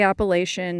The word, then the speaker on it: Appalachian: Yes, I say Appalachian, not Appalachian. But my story begins with the Pacific Crest Trail. You see, I was born and raised in California, hence my Appalachian pronunciation.